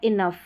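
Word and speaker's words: enough: फिर ये है टफ और ये है इनफ, इनफ, ठीक है, इनफ। तो ओ यू वाली स्पेलिंग्स है, यानी ओ यू के बाद में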